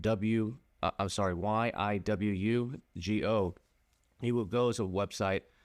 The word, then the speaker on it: Yiwugo: There's also like Yiwu Go. It's spelled Yiwugo.